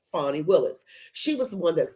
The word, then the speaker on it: Fani Willis: recap on Fanny Peg Willis her name is fonnie Willis and it actually is pronounced fonnie Willis she was the one that's going out after